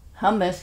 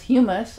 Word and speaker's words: hummus: And for years, I used to pronounce hummus, humus.